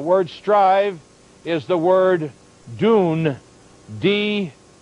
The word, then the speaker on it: dun: a man the word strive is the word dune d-u-n pronounced uh with the long u the d-u-m